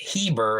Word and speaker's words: Heber: it's the same family Eber but now they're pronouncing it Heber and eventually it will be Hebrew and that